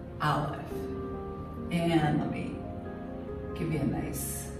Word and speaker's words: Aleph: this is the letter Aleph enemy give me a nice darker line there so itself is a letter now olive is a silent letter it has no sound zilcho no sound however